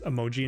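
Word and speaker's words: 絵文字: So for emoji, which is emoji in Japanese, emoji, it's a high pitch on the first letter.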